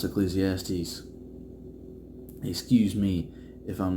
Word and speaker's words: Ecclesiastes: I've wondered what that was pronounced pretty much almost my whole life. I like that it's pronounced Ecclesiastes.